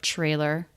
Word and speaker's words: trailer: cannot watch the trailer TR cluster being pronounced as CHR trailer trailer trailer the trailer